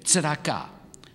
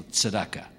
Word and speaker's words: tzedakah: And so, in Jewish tradition, we call this act of sharing and giving tzedakah. Well, maybe also tzedakah. Either pronunciation.